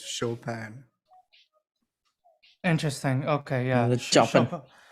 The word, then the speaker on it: Chopin: In Muga, and some also apparently situations, Chopin that you've been saying is pronounced Chopin.